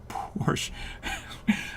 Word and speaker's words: Porsche: it's a porsche but a porsche is like chevy to chevrolet in my head so it's a porsche who's got time for two syllables come on now nobody